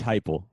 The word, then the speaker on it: Heupel: Is it Josh? It's Josh Heupel.